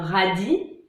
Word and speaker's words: radis: Les mots finissant par IS, on ne prononce pas le S, comme une souris ou un radis.